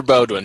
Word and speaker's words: Beaudoin: Heather Beaudoin. She's my direct supervisor. She's fantastic. Okay, so I said it properly. I thought, well, it's a French name. I'll just pronounce it the way I speak French.